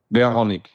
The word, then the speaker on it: Verhounig: you know, is it Verhoenig? Verhoenig. Verhoenig. Just change the Change the V to a W. Get rid of the U. And that's it. So, welcome, Verhoenig, to your 5 Minutes for Good.